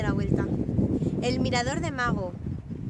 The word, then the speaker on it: Magho: El mirador de Mago. Que aquí dicen una especie de majo, que yo pensaba que era majo hasta que he llegado y he visto que se escribe con Maggho.